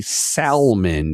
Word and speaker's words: Salmon: Apparently, his name is Marley Salman. Even though it's spelled the same as the fish, it's pronounced differently.